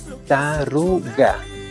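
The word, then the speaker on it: taruka: Ojo la pronunciación taruga. La K que está al último, la última sílaba, pues prácticamente se transforma como una especie de guga.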